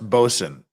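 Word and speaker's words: boatswain: you'll notice that uh boat Swain is is pronounced bosen they do a lot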